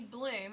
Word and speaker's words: Bluhm: here's Tiffany today we have with us Tiffany bloom am i pronouncing that correctly yes you are yes I